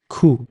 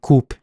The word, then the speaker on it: coup: radical extremists and CP p is silent cou was taking the power illegally by force coup don't say coup please cou so these words are